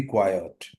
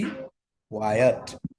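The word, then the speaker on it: quiet: कर देते हैं don't be silly do बी क्वाइट डू बी क्वायट ये एक बड़ा लफज़ गलत प्रोनाउंस होने वाला लफज़ है वो एक होता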